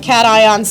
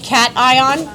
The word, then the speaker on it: cation: Okay, you sound like a Don't say this word is not. This word is cat ion. It is a compound word.